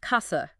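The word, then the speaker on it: casa: If C comes before an E or an I, you get that soft chi sound like key church. Precisely. Key east a. But if it's followed by a oo, it stays hard like kasa house.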